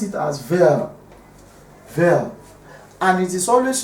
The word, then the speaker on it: vel: So vel, that's what we call it. So this is when two or more propositions are joined by or vel.